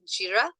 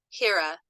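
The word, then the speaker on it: Jera: But it looks like the correct pronunciation is Jira. But I have heard Hera many times when doing research.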